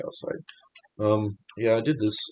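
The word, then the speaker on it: calcite: It is called calsite. I might be saying it wrong but pronouncing it wrong. But it's spelled calsite. So, I'm going to call it cowside.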